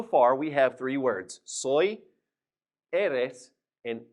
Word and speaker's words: soy: gonna write s Oh Y and that is pronounced soy now in this middle box here I'm gonna